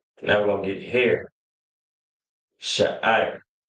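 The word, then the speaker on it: שֵׂעָר: Sha'ir. Sha'ir. All right. Right to left. It's Shah, I, Ra. 3 different characters. Shah, I, Ra. And it's pronounced Shah, I. Shah, I. R.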